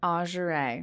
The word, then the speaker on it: Azuraye: Azuraye, is that how you pronounce it? Azuraye. Azuraye, wow.